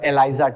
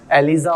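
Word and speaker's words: ELISA: Aliza or Eliza test. Pronunciation varies my friend. Pronunciation varies according to people, according to the state. Yeah. According to religions.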